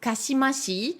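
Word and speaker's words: 姦しい: Candy de ulusai c'est un Candy qui se qui se prononce kassimassi c'est un autre adjectif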